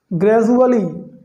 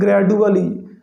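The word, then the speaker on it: gradually: ग्रेजुअली, देखो कई बार इसको लोग पढ़ते हैं ग्रेजुअली, जो इनकरेक्ट है। इसका करेक्ट प्रोनाउंसिएशन होगा ग्रेजुअली, मीनिंग होता है धीरे धीरे।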